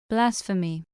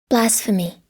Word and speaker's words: blasphemy: Blasphemy. 자, 그리고 발음 기호를 보고요. 여기 나온 점을 한번 보세요.이 점이 뭐냐? 두 개로 나눠져 있죠. 이음절이란 겁니다. 발음을 직접 해 보세요. ph 발음 이거 알고 계십니까? F 발음이에요.